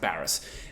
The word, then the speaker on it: Barrass: their contract negotiations so let's talk about bar Baris first it's pronounced Baris obviously he's met with Hawthorne wrestling and Sam